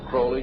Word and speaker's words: Crowley: individual or develop Aleister Crowley he likes to have his name pronounced Crowley to rhyme with holy and the statements today